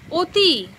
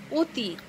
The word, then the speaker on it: অতি: কিন্তু অতি, এখানে অ বর্ণটির উচ্চারণ ও এর মতো হয়েছে।